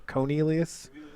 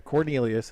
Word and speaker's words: Cornelius: doesn't really make here Cornelius is the correct way to say it four star outside receiver